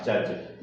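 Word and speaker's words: judge: Next example है जज, तो इसमें भी डी जी कॉम्बिनेशन बना हुआ है, तो इसको क्या प्रोनाउंसिएशन हो जाएगा, जज। डी साइलेंट हो गया।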